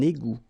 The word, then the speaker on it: égout: Un égout. Okay, little link between the two. Un égout. Final T not pronounced. Un égout.